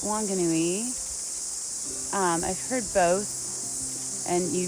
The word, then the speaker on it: Whanganui: of today that the local ewe pronounces it wanganui um they're an ewe that just doesn't pronounce the for the wh so it's spelled whanganui but pronounced wanganui here but farther up north you would say